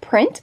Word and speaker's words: Prynt: I believe it is called the print pocket but it is spelled like this PR ynt if it looks just